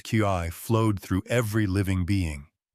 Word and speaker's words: qi: The invisible vital force called qi, pronounced qi, flowed through every living being.